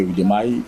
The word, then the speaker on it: Udemy: Bon, je prononce en français Udemy, mais en anglais c'est Udemy, U-D-E-M-Y.